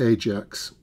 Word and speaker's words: Ajax: Now, throughout this build, I'll be referring to this ship as HMS Ajax rather than what is probably the correct pronunciation, which is Ajax.